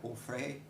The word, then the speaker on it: Onfray: Onfray, né? Se utilizar a pronúncia francesa, que é um filósofo francês, todos os dois vivos ainda.